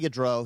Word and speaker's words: Gaudreau: I hope I'm pronouncing their last name right, Gaudreau, is that how you pronounce it? Yes, Johnny Gaudreau.